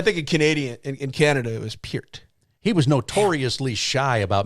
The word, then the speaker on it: Peart: When Neil Peart was, how do you say it, Peart or Peart? It's Peart. Now it could be it's Peart in like a. Damn it! Have I been saying it wrong all these years? No, I think both are okay.